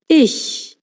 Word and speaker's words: ich: So bin Claudia Schmidt is I ch sounds a bit like English sh but instead of rounding your lips as in show, you pronounce it with the lips stretched. Ish. One trick to keep the back of your tongue up.